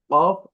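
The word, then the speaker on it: كاف: সাথে সাথে বলতে পারেন ন আচ্ছা এই হরফটি উচ্চারণের ক্ষেত্রে আরবি এই হরফগুলো আসল ঠিক আছে কফ আলিফা ঠিক আছে তো এই হরফটি আমি আবার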